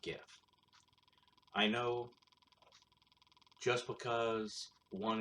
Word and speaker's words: GIF: But it's pronounced GIF, not GIF.